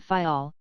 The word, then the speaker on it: Fayal: island of the group fayal the people there pronounce it faial and put the accent on the first syllable we anchored in the